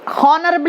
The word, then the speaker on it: honorable: Honorable it is written as per Indian pronunciation, but while pronouncing, honorable. See, honorable.